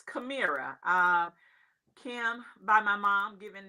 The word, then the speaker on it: Kemamira: And a lot of people tend to miss the pronunciation. So Kamira is the proper pronunciation.